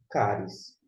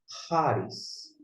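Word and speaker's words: χάρις: Caris. Agora, se você for adotar uma pronúncia como o CH alemão, Haris, Haris. A escolha é sua, mas fica aí a opção, embora depois eu vou adotar uma pronúncia específica.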